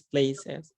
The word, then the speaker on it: places: Remember that is places. Okay. You need to pronounce the es at the end.